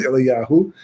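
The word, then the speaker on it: אליהו: We always pronounce it Eliyahu, but the Vav is not there.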